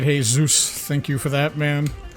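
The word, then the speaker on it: Jesús: all right all right hey zeus thank you for that man don't call him jesus i don't think he'll mind that is actually a correct pronunciation of the name so i am in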